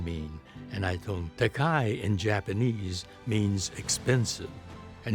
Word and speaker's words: Takei: there, and you have mispronounced mine. But it's really pronounced Takei. And then he said, oh, I'm sorry. What does Takei mean? And I told him, Takei in Japanese means expensive.